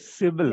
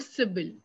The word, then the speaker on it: Cybal: Civil. Yes, it's called Cybal, like the Okay. Cybal score.